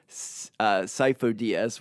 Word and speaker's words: Sifo-Dyas: sifo-dyas in Episode two his name is pronounced sifo-dyas which means Epps himself